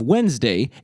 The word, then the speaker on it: Wednesday: The pronunciation of Wodnesdaeg differs from the pronunciation of Wednesday in two obvious ways. First, the initial vowel sound in Wodnesdaeg is an O sound, not an E sound. And second, the D in Wodnesdaeg, which has fallen silent in Wednesday, is still pronounced.